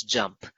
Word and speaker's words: JMP: the key capabilities of JMP, just pronounced as JUMP.